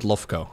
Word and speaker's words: Lowko: I have heard people pronounce it Lofko. Lofko is actually not uncommon. Lofko? Oh, what? Yeah, for Eastern Europeans and like Russians and stuff, like the W is a V.